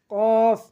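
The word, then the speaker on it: قاف: তারপর কফ, কফ, কফ আমরা গলা থেকে ধাক্কা দিয়ে উচ্চারণ করব। কফ, জিহ্বার গোড়া তার বরাবর উপরের তালুর সঙ্গে লাগাইয়া কফ উচ্চারণ করব।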